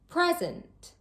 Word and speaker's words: present: If the word has just one syllable, then the whole word is stressed. Let's take a look at some more examples. Present or present.